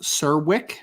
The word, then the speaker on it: Serwick: And Karen just commented and said that it's pronounced Serwick.